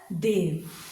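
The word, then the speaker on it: they've: We will place an apostrophe after the first word and it will be pronounced as dev. Dev, like God को कहते हैं हिंदी में देव.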